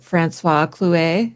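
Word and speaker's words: François Clouet: When I think of Margaret too, I immediately go to that sketch by is it Francois Clouet?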